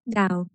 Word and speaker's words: Tao: Tao, I said, pronouncing it correctly as Tao.